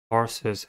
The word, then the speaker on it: tarsus: the nestor is tarsus tarsus has two syllables and the stress is at the first one the first level is